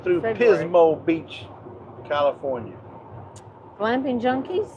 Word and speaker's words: Pismo: Beach California he remembers oh Pismo rhymes with Gizmo that's a very beautiful